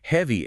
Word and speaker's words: heavy: Heavy ends with a clear, deliberate E vowel.